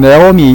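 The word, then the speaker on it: Naomi: 영어로 발음할 때는 네오미 이렇게 주로 발음을 하거든요. 네오미. 근데 네오미, 나오미 상관없습니다.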